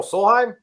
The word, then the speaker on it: Solheim: and runs with uh is it colonel solheim did I say that right yeah you said it right yeah uh Colonel Sim